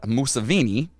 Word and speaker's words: Museveni: So Yoweri Kaguta Museveni rhymes with a Another person that's not very nice.